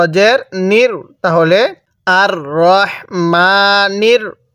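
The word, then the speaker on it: الرحمن: আমার সাথে পড়ার চেষ্টা করবেন তাহলে পড়ুন আর রাহমানির হ্যাঁ অনেকেই রাহমান পড়ি ঠিক আছে রাহমান পড়ি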